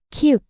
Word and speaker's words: 키읔: 키읔, 키읔, 그, 그. Similar to k and kite, but strongly aspirated with a burst of air. Stronger than ku. Analogy, it's ku with an added stroke, meaning more air.